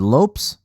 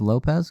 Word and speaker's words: Lopes: Oh yeah, Bruce Buffer said Lopes. I don't think anybody else pronounced it like that, so I'm not sure if that's how he pronounces his name. Let me know in the comments below if I'm incorrect about that. I thought it was Lopez, because that's everybody else is saying.